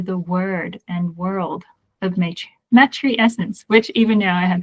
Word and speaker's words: matrescence: So we pronounce it matrescence.